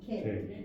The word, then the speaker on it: que: Okay, so one clue here, the last word on page 3, Q-U-E, pronounced K.